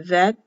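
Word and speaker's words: ב: the ground vet the vet has a little shelf edge coming out here for bedouin or house spelled b but pronounced v looks like the huff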